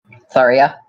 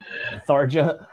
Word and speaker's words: Tharja: Tharia. I've never played a Fire Emblem. But you knew what it was! Yeah. Are you telling me it's not Tharja? Tharja.